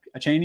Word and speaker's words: Achane: Let's say, like I predicted, Mostert, Wilson said, they say Devin Achane, I don't know how to say his name, Achane, even though he played him a shit ton in college.